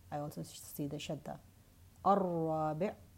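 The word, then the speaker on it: الرابع: Ar-Rabi', again, I'm not pronouncing the lam.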